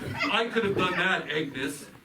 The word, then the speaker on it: Agnes: Oh, what is the reason for this interruption, Agnes? Oh, it's pronounced Agnes.